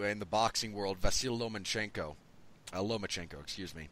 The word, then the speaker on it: Lomachenko: A lot of congratulations to, in the boxing world, Vasyl Lomachenko. Excuse me. There's not an N there, and I keep wanting to put one there.